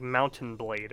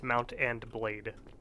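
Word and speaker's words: Mount & Blade: I know I always I pronounce it like Mountain blade but it's Mount And Blade always done that stranger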